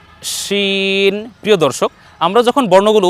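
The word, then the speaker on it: شين: এটা হয়ে যাবে শিন উচ্চারণটা একটু বাতাস মোটা হবে বেশি বাতাসের সাথে উচ্চারণ করতে হবে আগের বর্ণ ছিল একটু চিকন আর পরের বর্ণ উচ্চারণে একটু বাতাস বেশি বের করে উচ্চারণ করতে হবে শিন শিন প্রিয় দর্শক আমরা যখন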